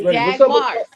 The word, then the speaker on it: Jaguars: And you gotta say it correctly too. That's right. It's Jaguars.